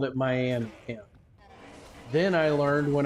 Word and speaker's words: Miami: know that it is it's supposed to be pronounced May with an eye on the end of it supposed to be up